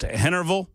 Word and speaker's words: Henryville: I am being told that Henryville is pronounced Hennerville.